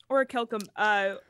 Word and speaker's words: orichalcum: Orichalcum, what was missing from orichalcum to make it something that was like active?